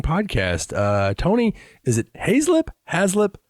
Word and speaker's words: Hazelip: I pronounce it Hazelip. Okay. Right. If I'm trying to tell somebody how to pronounce it and they look at me, I'm like Hazelip. They're like Hazelwood.